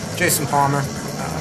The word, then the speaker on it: Jayson Palmer: Yeah, my name is spelled Jayson, which is a little unusual, but Jayson Palmer, just kind of how it sounds.